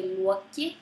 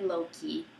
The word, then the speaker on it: Loki: going to tell but I am going to pronounce the name Nam um as I feel are correct in the Icelandic way so I will say Lu instead of low key so you know this